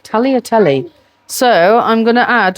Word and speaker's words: tagliatelle: Now, I call it taglotelli, but I don't think you pronounce the G. I think it's Totelli. Talotelli.